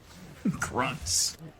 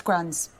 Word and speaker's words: Gruntz: Gruntz, you know, kind of sounds like... You wanted to see me? I told you the 'T' is silent. It's Grunz.